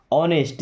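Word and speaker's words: honest: आप वर मी्स थे ऑनेस्ट यहां पे एच साइलेंट है ऑनेस्ट मींस ईमानदार यू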